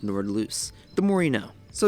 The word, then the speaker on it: Nordlys: of course Nord loose I thought it pronounced Nords but it's pronounced Nord loose the more you know